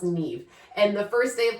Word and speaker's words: Niamh: Her name was Neve, but it was spelled Niamh. Niamh, pronounced Neve. And the first day of class, I'm going through and I'm like, Niamha?